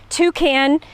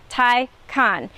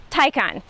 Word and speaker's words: Taycan: don't know how you say it take hand tai can toucan um taken i think somebody was like can